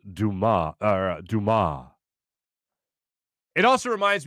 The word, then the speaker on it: Dumas: It's pronounced Dumas, or Dumas. It also reminds me of Shawshank Redemption, when they're going through books in the library, and the one guy goes, by Alexander Dumbass.